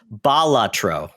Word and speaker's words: Balatro: in uh foreign language yes and it's actually pronounced balatro batro wow f look it up on Wikipedia